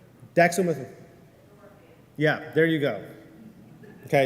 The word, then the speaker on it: dextromethorphan: Dextromethorphan. Did I pronounce that correctly? Dextromethorphan.